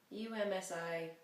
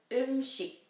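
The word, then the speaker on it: 음식: UMSI, no. Amazing. Okay. So umshi.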